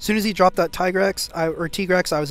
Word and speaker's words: Tigrex: for this for the tigrex or t-grex as it's pronounced correctly he wipes my board